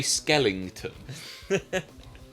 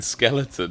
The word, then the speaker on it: skeleton: Skellington oh cheers man did you say Skellington I always say it like that skeleton mate skeleton Skellington um so